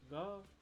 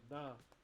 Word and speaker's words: ngā: So from Tūhoe, we don't like to pronounce our G. So instead of saying ngā, we say nā.